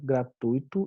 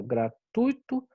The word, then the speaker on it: gratuito: tudo bem a 5 analise a palavra gratuito e responda como ela deve ser pronunciada gratuito ou gratuito porque vocês com certeza já ouviram muita gente falar gratuito né mas gratuito não existe porque na verdade a prosódia da palavra maneira correta de se falar essa palavra é